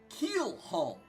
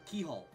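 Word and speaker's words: Keelhaul: Keel Hall. Keel Hall. I've always pronounced it Keyhole. Keyhole. Forgetting the other L.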